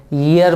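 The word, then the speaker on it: year: This word is actually pronounced, य का sound से शुरू होता है, ईयर पढ़ा जाता है इसको।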